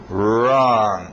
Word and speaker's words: wrong: ah Clean room Clean escrito w mas som S do R wrong hum a intonação Geralmente